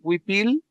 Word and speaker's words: huipil: Tenemos la palabra huipil, que es el huipil con el acento en la primera sílaba, ¿verdad? Huipil, en español, huipil, decimos, ¿verdad?